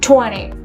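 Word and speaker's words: twenty: But here, look at here, 20. The stress is on the first syllable.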